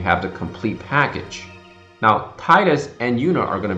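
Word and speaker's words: Tidus: actually announced that Titus, which for some reason they like to pronounce Titus. The only reason I could think of that is because I is actually pronounced E in Japanese, and I think they wanted to go with the idea that they wanted to stick with the Japanese pronunciation.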